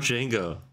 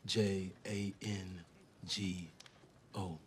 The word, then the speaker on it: Django: you spell it d j a n g o the D is silent that's funny what's your